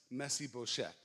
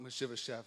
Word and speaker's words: Mephibosheth: Jonathan had a son named Mephibosheth. That's how you say it in English. In Hebrew, the way you say it is Mephibosheth.